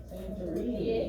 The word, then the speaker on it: Santorini: Santorini.